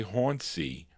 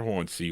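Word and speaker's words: Hausey: I was going to say Hony, but it's not Hansy. Hony. It's Howard Hy. H A U S E Y.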